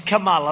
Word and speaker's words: Kamala: pronounce your name right it's kamala like a comma call mala and yet she pronounces her name differently than that doesn't say huh did